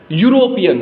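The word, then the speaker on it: European: आ रहा है वो आ रहा है य यूरोपियन हम क्या बोल रहे हैं क्या प्रोनंसिएशन कर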